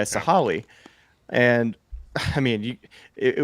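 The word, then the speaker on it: Sahalee: then now you're at sah sahali sahale sorry so sah also the Google pronunciation yeah sahali and I mean you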